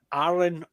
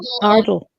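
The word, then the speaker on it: Ardal: I didn't like Arlen O'Hanlon. I keep getting his name wrong. Ardle O'Hanlon.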